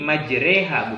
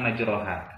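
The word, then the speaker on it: مجريها: majroha sama-sama cowok roh kalau dipatahkan dibacanya maju tapi kalau misalkan imalah dibaca dengan rek sehingga menjadi majreha bukan majroha nanti ada ya suratnya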